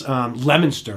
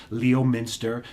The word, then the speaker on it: Leominster: Leominster, right? Or some people that aren't from the area, Leominster. That's not how you say it.